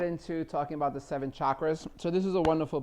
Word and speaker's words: chakra: all the pronunciation is chakra CH H ch a lot of people pronounce it chakra I did for many years until my friend G corrected me and said no it's chakra like chocolate I oh I like